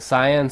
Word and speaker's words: cyan: And then, was it cyan? Cyan is the correct pronunciation of the color.